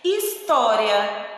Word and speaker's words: história: História. História se escreve com H, mas escutamos o som do I.